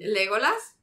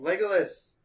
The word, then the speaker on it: Legolas: say in spanish it's there's no difference it sounds the same legolas in spanish and in english is say it legolas it's the same but with like some spice on it like that's the only